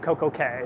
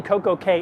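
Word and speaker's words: CocoCay: CoCo K so actually Coco K is Coco K the rest of them are key you know like princess key even though it's spelled c-a-y but Royal Caribbean is actually pronounced k um according to Royal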